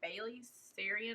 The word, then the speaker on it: Bailey Sarian: Discovered what is her name, Bailey Sarian, I believe is how you say her name, and I love watching her videos.